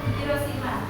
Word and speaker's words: Hiroshima: Hiroshima dibacanya nak. Hiroshima.